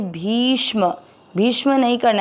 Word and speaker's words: भीष्म: भी की मात्रा बड़ी है, लंबा खींचना है। भी के साथ आधा श षटकोण वाला और म में अ मिक्स करेंगे भीष्म। भीष्म नहीं करना है इसको, भीष्म।